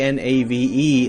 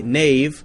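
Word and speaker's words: knave: spelling hasn't really changed we say k n a v e Nave like Nave n-a-v-e but still spell it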